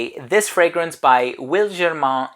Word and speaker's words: Wilgermain: here's a fragrance that is from a brand pronounced will German and the reason for that is because the